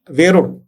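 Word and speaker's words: वेरूळ: और हम आते हैं अभी वेरुड़, एलोरा को यहाँ मराठी में वेरुड़ कहते हैं, तो we will use that Indian वर्ड वेरुड़.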